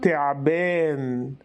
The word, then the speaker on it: ثعبان: كلمه تمثال بيكون النطق تمثال تمثال او في ثعبان ثعبان ثعبان ثعبان ثعبان ثعبان بيكون بيكون بيكون تعبان تعبان تعبان تعبان حرف الجيم بتنطق في العميه المصريه جيم غير معطشه يعني